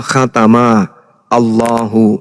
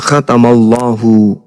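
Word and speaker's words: خَتَمَ اللَّهُ: Nah, di Al-Qur'an misalnya khatamallahu ini kalau dipisah cara bacanya adalah khatama Allahu. Itu kalau dipenggal. Tapi kaidah membacanya disebut kemudian makhraj dan naqhwarnya. Cara membacanya khatamallahu.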